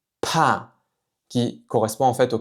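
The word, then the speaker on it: 怕: Ici, ce caractère se prononce "pa" "pa" "pa" qui correspond en fait au caractère de la peur, donc quatrième ton. "pa" "pa". Encore une fois, vérifiez bien que vous expirez de l'air quand vous prononcez ce son-là.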